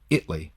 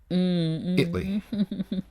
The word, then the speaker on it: Italy: But in Texas, there's a city that's spelled exactly the same way, but it's pronounced Italy. Italy.